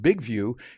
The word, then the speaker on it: BIGVU: big view for that big view by the way that's how they spell it b i g v u as one word all in caps and big view gives